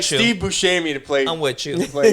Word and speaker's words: Buscemi: steven seagal no st he won't even say your name correct yeah he's like butchered to tell me to tell me steve buscemi see he could do it correctly you're probably excited i'm